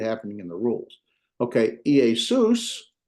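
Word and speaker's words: Ἰησοῦς: Notice that you have the EA. There's two different vowels, and they're not a diphthong. So guess what? That's two different syllables. Okay. Sus. Us is the diphthong. And of course, it has a sigma preceding and following it. So Iesus. Jesus.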